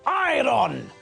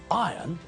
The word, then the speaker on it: iron: the word iron as iron this is wrong the word is spelled I are o n when we pronounce the word we don't pronounce the letter R when we say iron it sounds exactly the